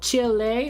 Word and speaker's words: Chile: in high school so Chile right because the E is pronounced like an a that's how I say